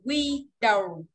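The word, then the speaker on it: widow: Rồi, nhớ nha, cái từ bà quả phụ chỉ đọc là we đầu. Còn cái cửa sổ đọc là win đầu.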